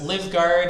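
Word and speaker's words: Livgaard: team we do have livguard and oh no I was taught how to say this this double A word earlier it's like the O and more so it's live guard and ah I think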